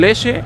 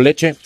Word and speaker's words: leche: La pronunciación de la che. La que ustedes dicen muchacho, dicen muchacho, usted dice leche.